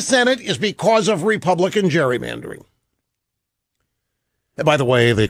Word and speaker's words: gerrymandering: is because of Republican gerrymandering by the way the correct pronunciation is Gary Mann during it's named after a guy named Gary who firsts GE rry